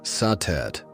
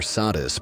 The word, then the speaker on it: Satet: Before the great names of Isis or Hatheror filled the temples of Egypt, there was Satet pronounced Satet or Sadis by the Greeks.